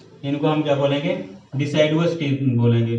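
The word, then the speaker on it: deciduous: क्या बोल सकते हैं, इनको हम क्या बोलेंगे, डिसाइडवस टीथ बोलेंगे, डिसाइडवस, यू है, ठीक है।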